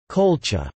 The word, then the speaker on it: Qulḫa: The name Colchis is thought to have derived from the Urartian Kula, pronounced as Colcha.